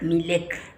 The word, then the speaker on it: Milec: ¿Es correcto la pronunciación? ¿Milek o Milek? Milek.